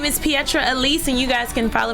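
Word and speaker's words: Petra Elise: follow you on social media my name is Pietro Elise and you guys can follow me at pietre Elise TV is spelt like Petra so it's PE t ra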